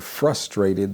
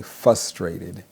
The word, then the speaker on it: frustrated: And instead of saying frustrated, they say fustrated.